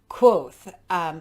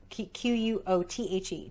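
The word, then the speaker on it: Kvothe: My name is Quoth, pronounced nearly the same as Quoth. Quothe.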